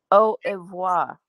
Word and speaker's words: au revoir: Kathy said it's pronounced au revoir.